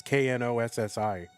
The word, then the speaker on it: Knossi: It's Knossi.